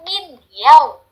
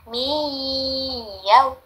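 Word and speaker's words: مِنْ يَوْمِهِمُ: Hati-hati, nun sukun ketemu ya, bukan min yau, tapi menjadi miyau, miyau, mihimul.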